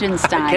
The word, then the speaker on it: Liechtenstein: I'm gonna continue to try and pronounce this thing right. It's Liechtenstein.